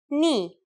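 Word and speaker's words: νι: The first letter today is a consonant, ni. Yes, pronounced just like the knee on your leg.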